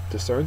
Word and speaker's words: discern: next word is discern discern is a verb second syllable is accented and it is to